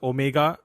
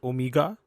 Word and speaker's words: Omega: I used to call those watches Omega until I heard Daniel Craig pronounce it Omega, and I'm like, yeah, I'm gonna pronounce it Omega from now on.